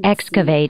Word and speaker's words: excavate: 那我们今天学一个动词， Excavate, 听一下读音。